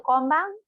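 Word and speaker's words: 今晩: So should we stick to konbang? All right, like stick to that, yeah? So tonight, konbang. Again, slowly, per syllable, konbang.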